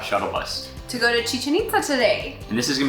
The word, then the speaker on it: Chichén Itzá: mean to americans but it is a really easy way to remember how to pronounce chichen itza if you remember chicken pizza and that's what they